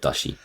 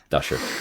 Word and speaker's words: Dasher: not Dashi, Dasher.